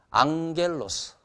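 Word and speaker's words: ἄγγελος: 낱말부터 우리가 공부하겠어요 코 안겔로스 여기서 여러분 그 감마가 두 개가 나왔잖아요 그래서 감마 앞에 나오는 감마는 응 발음이 난다는 거 그래서 호 안겔로스 천사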